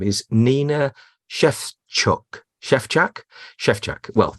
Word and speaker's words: Szewczak: Szewczak, yeah, perfect. You did it really well. Fine. Yeah, perfect there pronunciation.